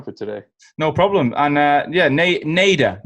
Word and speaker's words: Nader: Everyone wants to pronounce the ending in a different way, but yeah, it's just flat Nader.